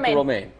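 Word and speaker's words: Romijn: Is that how you say her name? Romaine Lettuce? Romaine? Yeah, Rebecca Romaine.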